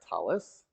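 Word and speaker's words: tallis: now obligated to wear a talus or talit same thing just different pronunciation uh putting to fill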